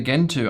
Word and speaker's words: Gentoo: So, someone is having a problem with their Gentoo on the VPS.